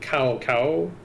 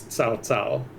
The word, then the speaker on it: Cao Cao: So with the, it's not cow cow. The C in pinyin is pronounced TS. So it's, so his name is Cao Cao. Cao Cao.